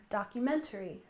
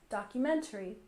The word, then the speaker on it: documentary: We stress the third syllable in documentary, documentary.